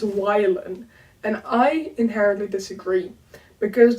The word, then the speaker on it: Wylan: I always say it in my head as wylan, because a Y, like the letter, in Dutch would be pronounced I most of the time, but wylan is not really a name, and it's also weird to say. But wylan, on the other hand, sounds very similar to Willem, which is a very common Dutch name.